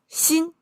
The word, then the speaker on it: 鑫: When three of them put together, it's pronounced as shin.